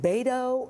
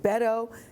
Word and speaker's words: Beto: your name is it bado is it Beto and somebody's campaign says it's Beto like you can bet on him that's a good way